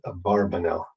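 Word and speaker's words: Abarbanel: by the way not about an urban but a barbanel is the is the more precise uh pronunciation anyway so uh he was a fascinating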